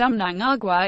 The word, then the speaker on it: Mnangagwa: Mugabe's most brutal crackdowns on dissent naya-a I pronounced Amnon Agua is better known by his nom de guerre